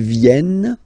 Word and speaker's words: viennent: Ils viennent, elles viennent. Ils viennent, elles viennent. Alright? E-N-T, you don't pronounce them. Ils viennent, elles viennent.